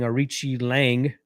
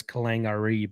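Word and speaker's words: Aoriqileng: more than barry honestly zero bob is saying arichi lange i know it's sometimes seen as kalangari but i know it's pronounced arichi lang i think he wins but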